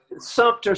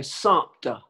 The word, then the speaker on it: Sumter: It's like Sumter, South Carolina. They always say Sumter.